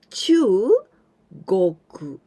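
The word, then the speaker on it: 中国: But here we pronounce chugoku. Chugoku, this is China.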